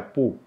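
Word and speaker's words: 不: Ada dua cara baca pu. Bisa dengan nada 4, pu, atau dengan nada 2, pu. Tergantung dengan huruf berikutnya.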